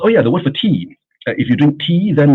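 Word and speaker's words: 茶: Oh yeah the word for tea.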